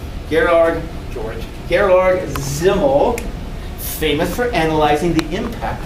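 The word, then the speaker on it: Simmel: and when it comes to groups size matters zimmel a german sociologist which is why it's pronounced as symbol as if it were a seed but it's spelled with an s gerard george gerlorg zimmel famous for analyzing the impact of size on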